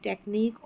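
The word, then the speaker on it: technique: यहाँ है यूनिक, टेक्निक और मॉस्क, मॉस्क क्यू नहीं बोलते, मॉस्क, QUE याद रख ले, QUE ये पैटर्न है, इसको पढ़ेंगे, क लास्ट में आएगा स्पेलिंग के ये पैटर्न।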